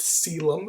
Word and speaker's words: coelom: celium it's spelled it's spelled coelom it is pronounced celem it's weird um it is fully within the